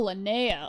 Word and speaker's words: Linnea: Oh, Linnea. Okay, that's how you pronounce her name.